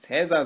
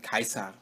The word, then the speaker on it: Caesar: Ich werde aber in diesem Video versuchen, es mit Kikero durchzuziehen, genauso wie man ja auch nicht Caesar sagen sollte, sondern Kaiser. Da hört man eigentlich auch ganz gut, woher unser deutscher Titel Kaiser herkommt.